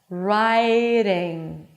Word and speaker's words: riding: So again, going back to the pronunciation of the D in the middle of the word between two vowels, you bring the tongue up, but you just slightly touch the upper palate.